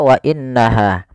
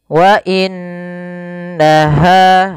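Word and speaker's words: وَإِنَّهَا: wa innaha tidak langsung dibaca wa innaha tapi ditahan dulu suara gunahnya sepanjang dua harakat. Kemudian pada lafal ha ada mad thabi'i. Wa innaha ha besar jangan wa innaha jangan ha kecil.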